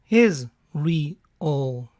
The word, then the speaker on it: Israel: Unidos, debido a que la pronunciación del nombre es Israel y se asemeja a es real, es real.